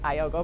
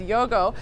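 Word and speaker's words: iögo: is actually pronounced yogurt i've always said iogo but it's yogo has stevia in it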